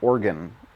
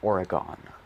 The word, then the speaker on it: Oregon: I know people from Oregon really do not like it when you pronounce it Oregon.